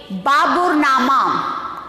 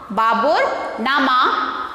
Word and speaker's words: Baburnama: How to pronounce this? Tujhke Baburi, or another name is there, B-A-B-A-R-B-U-R-N-A-M-A. Baburnama. Baburnama.